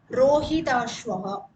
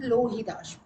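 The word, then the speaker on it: रोहिताश्व: Rohitashvaha. Rohitashva pullingam. Some references it can be even Lohitashva. Both are correct. Ra or L.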